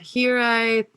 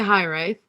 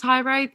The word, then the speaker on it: Hiraeth: it came up as high right but i like that could even be wrong still because it's a welsh word as far as i'm